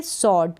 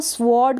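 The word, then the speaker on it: sword: अब यहाँ पर ये जो डब्लू है ये साइलेंट है, इसको हम रीड नहीं करेंगे। आप इसको स्वॉर्ड करके यानी आधा व करके इसको प्रोनाउंस करते तो ये गलत होगा, इसका प्रोनाउंसिएशन भी गलत किया जाता है, इसको स्वॉर्ड करके रीड कर दिया जाता है।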